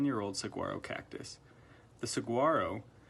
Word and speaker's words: saguaro: were a 10 year old saguaro cactus the Saguaro pronounced Saguaro only grows in the Sonoran Desert of